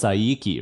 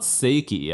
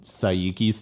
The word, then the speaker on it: Saiki: It's Saiki, right? It's not Seiki, I know that much, because that would be S-E-I, right? Like Seiko, like the watch brand. Sorry if I'm butchering the pronunciation, but I'm gonna go with my gut. I think it's Saiki.